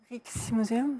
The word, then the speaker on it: Rijksmuseum: Et en plus, Michel, bravo, parce que vous le prononcez très bien et c'est pas évident. Le Rijksmuseum.